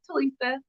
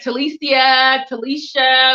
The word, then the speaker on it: Talisa: And I just be like, oh, it's Talisa. They be like Talicia, but it says Talisa, like phonetically.